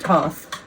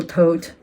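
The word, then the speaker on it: Thoth: the book of of of toss um or TH or tote Choose Your Own Adventure your own pronunciation Adventure this is a late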